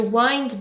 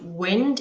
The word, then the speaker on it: wind: So to wind down, let's just look at this phrasal verb. Be careful of the pronunciation. It's not wind, it's wind.